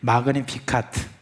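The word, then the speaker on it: Magnificat: 제가 지금 이렇게 발음하니까 여러분 왜 잘난 체 하느냐 그런지 모르겠는데, 우리 같이 해요. 그러면은 마그니피카트.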